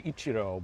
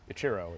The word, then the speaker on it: Ichiro: You could also say Ichiro, but that's what my mom says, but I I I answered everything. Itchiro is how I pronounce it.